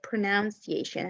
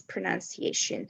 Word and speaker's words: pronunciation: again pronunciation yeah because i hear it many times said pronunciation have you ever heard it like that yes the stress uh syllable in wrong way yes thank you so much so the the the correct here the correct way to say it is pronunciation so we have a